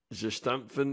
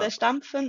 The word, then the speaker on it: zerstampfen: So you'll have to pronounce it properly for me. Kartoffeln kosten gestampfen in einen Eintopf geben.